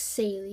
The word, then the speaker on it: Saley: Yes, my name is pronounced Saley, even though it looks like something else.